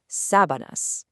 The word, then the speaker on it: sábanas: Here, the emphasis is right at the start, sábanas.